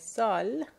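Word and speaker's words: ذال: If you put one dot on top of it, you will get Zal.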